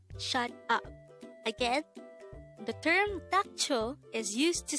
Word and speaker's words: 닥쳐: this is pronounced as a two-syllable word the first syllable is that second syllable is cho pronounce it with me the word dacho means shut up again the term tacho is used to say